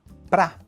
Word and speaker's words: pra: No português falado, a preposição para quase sempre vira para. Nesse trecho, a gente tem sete exemplos de para e em nenhum deles ele é pronunciado como para. E a gente pode encurtar o para mais ainda e falar pá.